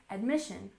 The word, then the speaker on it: admission: Admission has stress on the second syllable, admission, admission.